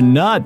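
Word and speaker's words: knot: But I know there are some words that start with the letter K, but it is silent, almost as if you are not there.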